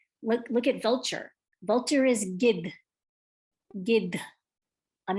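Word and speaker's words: गिद्ध: Vulture is gid, gid. I'm not saying gid, like rhymes with did. I'm not saying gid, I'm saying gid. Do you hear me kind of enunciating that H at the end?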